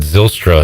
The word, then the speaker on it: Zylstra: this week he said zylstra is how you say his name yes i had to